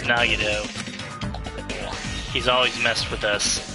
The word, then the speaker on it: Nagito: dead is he i i mean it's the nagado you know i don't know if i'm pronouncing that right that's right it's nagido he's always messed with